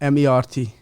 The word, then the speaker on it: Mert: right zi zi and it's last name is pronounced m e RT it pronounced mer mer mert okay yes uh